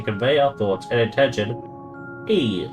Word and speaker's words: Ea: When the vibration of vocal folds was still required to convey our thoughts and intention, E, I believe, was the pronunciation used when referring to our people.